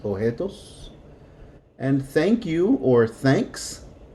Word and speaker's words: objetos: The B is silent, objetos.